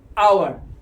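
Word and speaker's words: hour: sound क्या है तो हा कॉन्सोनेंट है लेकिन साउंड क्या ए रहा है ओवर क्या पढ़ने हैं इसको अवर अवर पढ़ने हैं इसको क्या पढ़ने हैं अवर ये पढ़ने हैं इसको अवर क्या लगाएंगे एन क्योंकि एन का साउंड ए रहा है ठीक है नीचे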